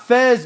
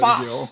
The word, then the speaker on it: Fas: It's not Fez. Fez really See what Fas. I get on. We It's say about in to get on. Arabic Fas. We spell it F-A-S, not F-A-Z. That's that Maghribi Arabic mixed in with French. We don't call it Fez. It's Fas.